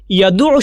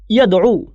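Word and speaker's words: يدع: এখন ইয়াদউ শব্দটার আরেকটা উচ্চারণ হচ্ছে ইয়াদউ। ক্লাসিক্যালি এটা দুইভাবে উচ্চারিত হয়।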